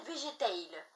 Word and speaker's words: Végétail: nom, je l'ai appelé Végétail. Alors ça s'écrit comme végétal, mais ça se dit Végétail.